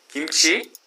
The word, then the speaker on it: kimchi: And now notice kimchi is spelled with a K, which in English is a K. He pronounces it more like kimchi, which I hear Koreans do both. Okay, again, English pronunciation, English presentation, English pronunciation. The spelling with a K makes it kimchi.